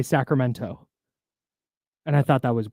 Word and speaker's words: Sacramento: okay and she said she had to train her voice to not say the T in Sacramento when she was doing ladybird because she wanted to say Sacramento and I thought that